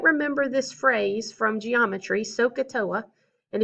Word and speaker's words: SOHCAHTOA: from geometry sohcahtoa and if you pronounce it properly it will help you a lot so don't say sakatoa right saka those sound the same i need it to be so katoa so those sound different from one another all